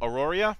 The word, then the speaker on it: Aroria: the upcoming campaign setting the stargazers guide to auroria i'm hoping i got that pronounced right he will he will not teach